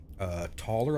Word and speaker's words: Toller: Toller, I believe it's pronounced. T-O-L-L-E-R.